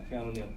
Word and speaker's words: Keanu Neal: How you pronounce his name? Keanu Neal? Yeah, Keanu Neal.